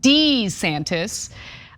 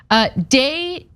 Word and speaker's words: DeSantis: He's the chair of Italian studies at Seton Hall University, who was actually shocked at the use of Dee-Santis. Deh-Santis would be proper Italian, and no one's gonna say that.